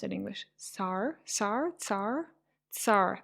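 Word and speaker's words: цар: Tsar? Tsar? Tsar. I think TS, right? Tsar. That's pretty much how you pronounce t. Kind of a combination of t and s.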